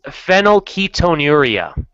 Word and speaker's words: phenylketonuria: I just looked how to pronounce that on YouTube, and it's phenylketonuria.